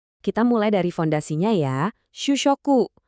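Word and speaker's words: 主食: Shushoku. Bacanya shusyoku.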